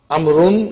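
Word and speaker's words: عمرو: six as you can see the proper name amaroon is written with wall which is not pronounced this is done to differentiate it from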